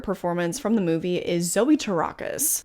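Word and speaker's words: Zoe Terakis: The other, and probably my second favorite performance from the movie, is Zoe Tarakis, which that is how you pronounce their name according to Google, so don't come for me.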